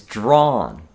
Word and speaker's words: drawn: The pronunciation of drawn is the same as draw, but with an n at the end.